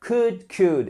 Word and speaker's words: could: can qui nous fait could. Et on ne prononce, évidemment, très important, on ne prononce pas le L. So, can, could.